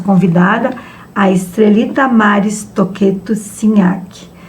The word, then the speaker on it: Cignachi: Hoje nós temos o prazer de estar com a nossa convidada, a Estrelita Maris Toqueto Sinhaque. Se nós pronunciarmos corretamente, né, a Estrelita seria Tinhaque, certo?